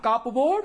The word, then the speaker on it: cupboard: So you find here P is silent. Also in cupboard, C-U-P-B-O-A-R-D. Not cupboard, but cupboard.